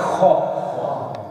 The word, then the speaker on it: خ: ہا پھر ہے خو جیسے کہ کوئی گلا صاف کرتا ہے خو.